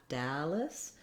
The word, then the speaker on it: Dallas: Then when we move to Dallas, again, we have first syllable stress. And even though it looks like the word all in this video, we don't have an ah vowel here. We have an Dallas.